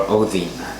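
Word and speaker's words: Óðinn: guys the archetype of Odin or Athena as his name is pronounced because the D is actually a thorn and that has a th sound in Icelandic and I wanted to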